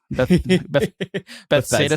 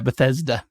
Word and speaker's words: Bethesda: do you always say you always say it wrong bethsaida song I don't know yeah Bethesda you'll get there when